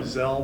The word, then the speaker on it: Zell: years and you know gel which rhymes with hell but it's been great